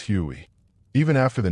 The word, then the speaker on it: Huey: The Huey got its name from its original designation, HU-1, which soldiers pronounced as Huey.